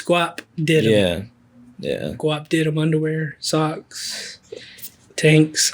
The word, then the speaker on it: Guapdidem: so just to make sure I'm saying it right, it's Guapdidem.